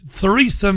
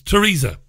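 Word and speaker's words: Theresa: brand very funny and therisa may or Teresa may you're not supposed to pronounce the th when you say Teresa may for whatever reasons bizarre really it's Teresa the prime minister for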